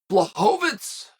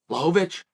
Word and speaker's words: Błachowicz: would turn it down blahovitz blahovic I said his name wrong I want to say it right Lovich I want to say